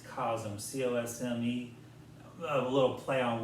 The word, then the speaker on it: Cosme: I say it's cosme, C-O-S-M-E.